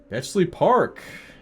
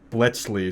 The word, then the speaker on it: Bletchley: Bley Park. Bletchley.